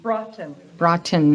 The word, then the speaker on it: Broughton: me your last name Broughton rhymes with rotten the only thing I